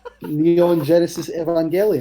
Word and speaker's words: Neon Genesis Evangelion: Neon Genesis Evangelion.